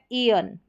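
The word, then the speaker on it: aeon: Spellings को देखें तो यहाँ पर शुरू में ए ई है तो इसका उच्चारण ई करके है, तो पूरा उच्चारण हो गया ईयन।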